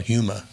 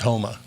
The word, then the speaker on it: Houma: retirement home over in Houma Louisiana ok Steve by the way you can tell if you're not from there because you call Yuma well it's Houma so it's like Houston